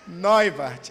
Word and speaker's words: Neubarth: coisa meu nome né família neart é assim a pronúncia errei neart é a pronúncia correto um sobrenome alemão eu sou de Recife